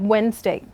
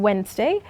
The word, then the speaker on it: Wednesday: to it for example look at the word Wednesday now the letters D and E are Sil ENT in Wednesday and we may miss